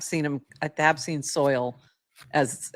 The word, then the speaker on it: $oil: It's $oil, but I was wondering if he pronounces it soil, and it's he does.